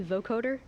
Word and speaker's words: vocoder: Vocoder. Am I pronouncing it correctly? Vocoder?